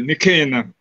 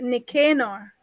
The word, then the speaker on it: Nicanor: I would prefer to say Nicanor. Nicanor. Okay, so yeah. It's pronounced Nicanor.